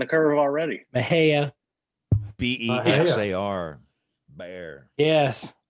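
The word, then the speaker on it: Bexar: mean they're behind the curve already mahaya b-e-x-a-r bear yes how do you say the name of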